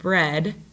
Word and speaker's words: bread: the next word is bread now this one's a little bit different um the digraph e a okay that is another spelling for a short e sound so when i say the word bread the vowel sound makes